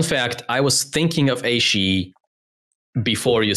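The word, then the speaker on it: Ashe: This character's name's correct pronunciation probably annoys some of you. Aishi.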